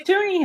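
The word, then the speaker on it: Toonie: it okay what does toony have it's got a polar bear on it but it's called a toony because it rhymes with Looney freezies freezies yeah um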